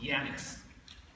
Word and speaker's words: Janus: roman god named janice the latin version of his name is pronounced janice there were two young